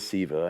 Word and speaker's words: Seva: Got this name, and everybody says Seva, and I'm like, haven't you ever played Sega video games? It rhymes with Sega, you know, so then some people would call me Sega, but that's all right.